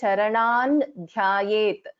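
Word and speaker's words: चरणं ध्यायेत्: So it is pronounced as Ratna Ghatastha Rakta Charanan Dhyayet Paramambikam. So I will be pronouncing this as Ratna Ghatastha Rakta Charanan Dhyayet. So Nakara is heard there instead of the Anuswara.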